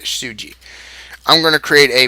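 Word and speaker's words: tesuji: their basic tactic suji TZ uji is uh is how it's pronounced but most go players just abbreviate abbreviated suji I'm going to create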